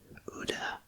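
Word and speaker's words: Oudh: brought in the united provinces of agra and uda which is spelled o-u-t-h and the central provinces east bengal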